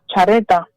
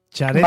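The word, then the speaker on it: Xareta: Y hoy nos vamos a ir, Juan Carlos, a Chareta. Chareta. ¿Vale? Que es Chareta, bueno, se escribe con X.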